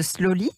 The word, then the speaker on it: Sloli: une des fondatrices de slowly je précise que ça s'écrit s l ol et à la française vous avez 29 ans